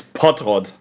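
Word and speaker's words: Pottrott: German yeah in German it's pot Rod sounds like pot yeah cuz I feel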